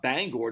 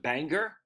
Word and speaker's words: Bangor: I think he's the one said I think they pronounce it not Bangor. Don't they pronounce it Banger?